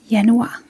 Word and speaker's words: januar: So the first one is Yanua.